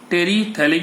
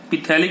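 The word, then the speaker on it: terephthalic: टेरीथैलिक acid use करते हैं. पिथैलिक नहीं बोलेंगे, PS साइलेंट होता है.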